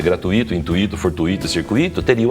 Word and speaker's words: gratuito: O U à frente do I mais forte ele tem uma pronúncia um pouco mais dificultosa.